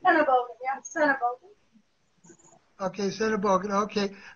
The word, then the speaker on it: Sennebogen: Did I pronounce the Sennebogen part right? Sennebogen, yeah, Sennebogen.